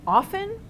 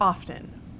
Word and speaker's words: often: pronunciation but in fact the T was deleted hundreds of years ago during the Renaissance it was deleted in